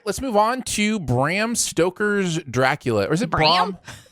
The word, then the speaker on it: Bram Stoker: for this show i thought his name was bram stroker not stoker so i've always said bram stroker's